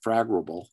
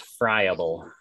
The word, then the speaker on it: friable: that they don't become fragrable and then you know if you hit them then of course it's going to spread through the basement and then up here yes pronounced friable oh i'm sorry friable and i've never heard